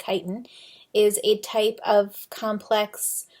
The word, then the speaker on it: chitin: beta 1-4 linkages chitin spelled chitin but it's pronounced chitin is a type of complex carbohydrate or polysaccharide